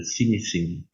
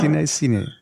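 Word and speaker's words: Cinéscénie: So it's cine from cinema, Cinesceni, and now scenic. I got it. And from scenic. From scenic. Wait. Yeah. So it's scenic cinema. That's basically what you're doing. So Cinesceni.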